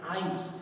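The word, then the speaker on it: hymns: हम हाइम कहते हैं, हाइम्स। देखिए यहाँ पर एम एन वाला रूल काम करेगा साइलेंट लेटर का, इसलिए हम इसे हाइम्स पढ़ेंगे, श्लोक या भजन को हाइम्स कहा जाता है।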